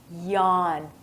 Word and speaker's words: yawn: talk about is Yan this is difficult to pronounce so try it yawn you have to actually open your mouth when you're going to